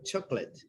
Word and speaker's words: chocolate: Pay attention to the underlying words like this one, chocolate. They don't pronounce the O, right? Chocolate, chocolate. Same with the rest. One of the letters is not pronounced.